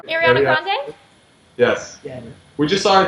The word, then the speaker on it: Ariana Grande: lot of K Beck and still kicks like Arana Grand how do you say her name Ariana Grande yes we just saw her the mvas and